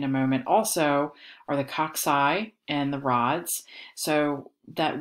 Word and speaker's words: cocci: is right here you you don't want to call that cockeye because then i think that you're talking about your your your head is cockeyed on your body or something like that um it's pronounced cocci or rods depending on what we're